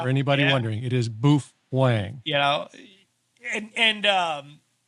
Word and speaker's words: Baofeng: think we should make that clear the correct pronunciation as you would know because you wrote the book is bof hang yeah for anybody wondering it is boof Wang you know and and um the the book